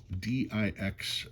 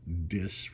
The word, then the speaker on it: dix: A lot of people want to call it the Dix note, and I was informed that DIX would be pronounced dis, rhyming with kiss.